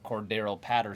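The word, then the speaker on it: Cordarrelle Patterson: He now steps in as a potential RB1 because Cordero Patterson.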